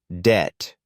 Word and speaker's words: debt: Debt. The B is silent. It sounds like debt.